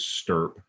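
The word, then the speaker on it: STURP: talked about enough is stirp and and stirp is an acronym they put a u in there to make it easy to pronounce but it's the shroud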